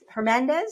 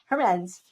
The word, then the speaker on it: Hermance: And I'm here with Hernandez. Did I pronounce it correctly? Hermance.